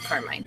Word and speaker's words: Carmine: Carmine. So an Italian American would pronounce it Carmine.